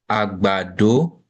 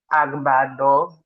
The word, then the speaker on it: àgbàdo: We call it àgbàdo. Agbado. that is correct. Agbado. Agbado. Àgbàdo, Mm-hmm. lolomid.